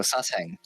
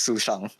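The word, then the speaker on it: Sushang: Oh, Sashang. Is that how you say it? No, it's Su Shang. But everyone calls her Sashang, so why not?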